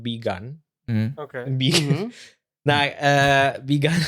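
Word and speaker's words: Bi Gan: Now, Begun is it's B-I. Why you laugh at that, bro? Right, yeah. Because it just sounds like be gone.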